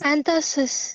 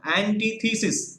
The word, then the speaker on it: antithesis: disgraceful end and and antithesis is this anthracis no no no antithesis what is it antithesis